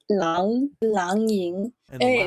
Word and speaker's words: Lang Ying: In Chinese, the A sound for A-N-G is ang. So it's Lang Ying.